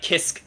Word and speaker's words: Kisk: is hard to say it's like kisk cave not kiss cave all right uh that's